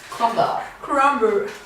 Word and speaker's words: crumble: سي انجلش ما نعرفش كرامبل كرامبل yeah you don't pronounce the r we have an apple